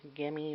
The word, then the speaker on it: Gemmy: Santa soaking his feet by gummy or Gemmy Industries depending on how you pronounce it um he is